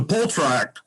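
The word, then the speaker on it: półtorak: Yeah, I'll pronounce them, and then you can describe them. The Poltrak would be the lightest one.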